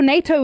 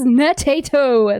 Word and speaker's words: Natato: The time for NATO is gone. Please be serious. Please be serious for a moment. My name is Natato. There are 3 syllables.